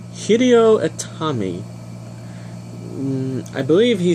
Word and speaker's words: Hideo Itami: I believe it's Hideyoshi. Oh my gosh, I'm saying it so wrong. Be right back. I'm going to figure out how to pronounce his name and try not to mess anything up. Okay, I got it. His new name is now Hideo Itami.